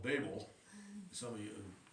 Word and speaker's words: Babel: A little town called Babel. Some of you, it's often pronounced Babel, but it's only got one B in it.